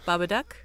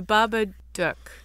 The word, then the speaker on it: Babadook: the living dead did i say it wrong bob a duck you have a friend to do the honor of this beautiful woman said the duck the baba duck the baba duck uh you can see check